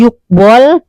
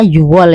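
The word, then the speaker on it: 유월: Tadi yukwol dibacanya yuwol ya, bukan yukwol ya.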